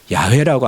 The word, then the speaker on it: 야훼: 우리가 출애굽기 3장의 이름이 무엇인지 물었을 때 나는 스스로 있는 자니라 라고 할 때 그걸 야훼라고 합니다. 야훼라고 해도 틀리지 않고요. 발음 나는 대로 하면 야훼가 맞습니다.